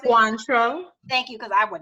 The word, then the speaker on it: Cointreau: She currently is a key account manager, I'm not even gonna lie, for Remy, how do you pronounce it? Cointreau.